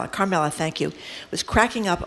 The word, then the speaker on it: Carmela: Carmela, thank you.